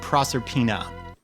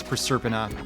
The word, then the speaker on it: Proserpina: the castle pronounce that you probably said proserpina apparently according to school moms who give a how anything is pronounced it is per serpent you suck bad attack